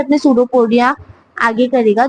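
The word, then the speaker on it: pseudopodia: Fingers like projection called सूडोपोडिया। P silent है। याद रखिएगा जो सूडोपोडिया उसके अंदर जो उसका पी है वो साइलेंट है।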